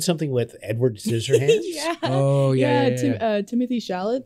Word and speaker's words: Chalamet: Timothy Chalamet, I believe is how you say his name, and Winona Ryder.